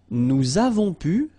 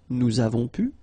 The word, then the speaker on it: nous avons pu: Nous avons pu. Little link, little liaison between the two. Nous avons pu.